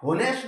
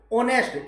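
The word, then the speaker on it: honest: अब ये इंपॉर्टेंट है ऑनेस्ट होनेस्ट नहीं बोला जाता इसको ऑनेस्ट ईमानदार एच ओ एन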